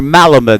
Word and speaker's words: Malamud: even lead a student or two to read malamud or malamud the proper pronunciation for a summer's reading the 1-1 to